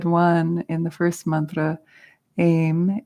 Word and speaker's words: Aim: We said one in the first mantra, Aim, A-I-M, like take aim.